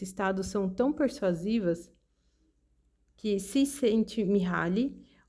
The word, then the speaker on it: Csikszentmihalyi: O psicólogo Mihaly, pronuncia-se Csikszentmihalyi, fez mais do que qualquer outra pessoa estudar este estado de atenção sem esforço.